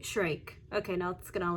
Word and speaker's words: Shyrock: Yeah, her name's pronounced Sari Shrike.